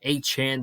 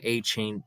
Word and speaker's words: Achane: yards in first down Devon aain or aan that's how he said he's pronouncing it I got to get used to it man I've been calling him achain the entire off season